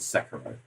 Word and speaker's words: Sekiro: It's Sekiro.